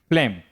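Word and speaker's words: phlegm: अगला वर्ड है फ्लेम। देखिए जी के बाद क्या है? एम है फ्लेम।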